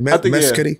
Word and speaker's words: Mescudi: Did I pronounce that right? Mescudi? Yeah. Oh, yeah. Mescudi.